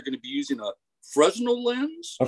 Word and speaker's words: Fresnel: to be using a Fresnel lens? A Fresnel. You don't pronounce the S. It's a French word. So you get to pass over several word letters. So it's Fresnel.